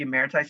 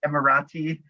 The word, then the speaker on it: Emeriti: I tried to pronounce it and it was Emirati, which often people go for it.